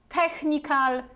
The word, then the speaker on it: technical: it together technical technical so you see this sound is pronounced like right Technical and you also have this all at the end so it's not technical it's technical technical let's have a look